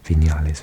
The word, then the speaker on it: Viñales: Cuba has 9 UNESCO World Heritage Sites, including natural wonders like Viñales Valley. I pronounce V's like a B. Viñales Valley.